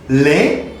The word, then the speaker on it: lait: The produit du jour is lait pour le corps. Lait, that's mean milk. The T on the end doesn't pronounce in French.